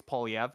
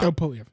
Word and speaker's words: Poilievre: And I'm asking if the Conservatives, Pierre, and you said Pierre Poilievre's name wrong. It's Poilievre, not Poilievre. Whatever you said. Polivier. It's French. Yeah, it's French.